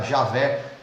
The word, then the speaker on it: Javé: nome dele, que era Javé, ou Iavé. Na nossa língua é isso, na língua deles são vogais impronunciáveis, né? Nós colocamos a letra A e E para poder pronunciar o nome dele.